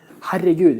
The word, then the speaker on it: Herregud: Herregud, it's like... Herregud. Herregud. It almost sounds a little like, oh my god, herregud.